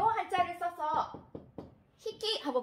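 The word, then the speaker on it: ひき: 마리라고 할 때는 짝필, 자, 요 한자를 써서 히끼 하고 발음을 합니다.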